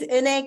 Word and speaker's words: Eunae: um my name is UN it's kind of hard to pronounce maybe for some of you if you can pronounce the name Renee just take the r off it's like and yeah uh before